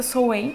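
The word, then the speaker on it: Samhain: tradição chamada sol em se escreve são ruim mas a pronúncia certa sou em mesmo de uma tradição muito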